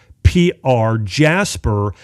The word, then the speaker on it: Jaspr: That's spelled JASPR, Jasper.